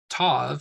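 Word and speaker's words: תו: pronounced is in shock Tov is pronounced t as in tape and for our first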